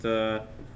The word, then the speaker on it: thaumaturgy: All right, and I'm going to step up and also cast thaumaturgy. How do you pronounce that?